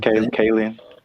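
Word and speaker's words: Kaling: Kayen.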